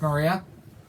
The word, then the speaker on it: Maria: Malia, rhymes with Maria.